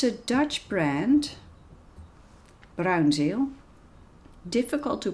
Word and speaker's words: Bruynzeel: made with these pencils it's a Dutch brand brown gel difficult to pronounce for people who don't speak Dutch brown